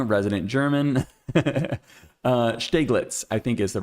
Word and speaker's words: Steglitz: I did learn how to say this right here, though, and it is Steglitz. Jim Girth, let me know if I'm wrong. Resident German. Steglitz, I think is the right way to pronounce this.